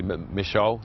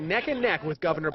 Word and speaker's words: Michaud: Gubernatorial Candidate:) "I usually say 'mi- SHOW' - the French version - but some people say, 'What?' And then you say 'mi-SHOO' so" "We've heard it different ways.